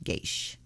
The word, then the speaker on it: geis: curse or a taboo geish it's pronounced g-e-y-s-h geish so i was right